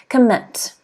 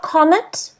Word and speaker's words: commit: next one is commit commit everyone i want you to say this word at home commit not comment commit commit and the stress is on the second syllable commit commit can you